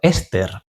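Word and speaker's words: €STR: Su objetivo es seguir el comportamiento de un índice basado en el STR, pronunciado Ester.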